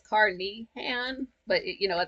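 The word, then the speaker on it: Carnehan: I thought it was caraan it's caran but you know that's just the way it's spelled not the way it's pronounced okay now you can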